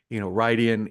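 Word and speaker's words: Rhuidean: I'm like, that's how you would pronounce it if you just like phonetically did it. But remember, comes from a different language, the old tongue. So, Rydian is the actual pronunciation, but that's nitpicking.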